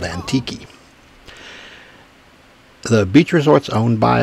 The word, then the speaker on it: Antique: Resort up in antique spelled antique but it's called antiki the beach Resort's owned